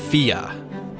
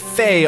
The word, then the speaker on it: Fe: This is the world of Fia. At least I think it's pronounced Fia. People keep wanting to pronounce it Faye online, but Wikipedia is pretty emphatic about my pronunciation.